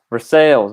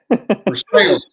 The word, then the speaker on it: Versailles: Versailles, man. There's sales on that. Versailles.